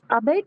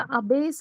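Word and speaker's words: abbess: Ma'am spelling में ए हो जाएगा ओ की जगह पे अबेट। अबेट नहीं होगा, अबेस हो जाएगा ना, अबेस।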